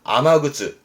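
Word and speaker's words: 雨靴: 그래서 발음은 이때는 아마굿즈. 아마굿즈. 그러니까 비 올 때 신는 신발 있잖아. 뭐 레인부츠 같은 거를 말하는 거죠. 근데 이 조심할 건 아메가 아니라 발음이 아마로 바뀌는 거죠.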